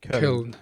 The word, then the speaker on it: Köln: Recall that during World War II, the United States, Britain, reduced Dresden, Hamburg, how do you say that? Cologne in English. Yeah, Köln in German.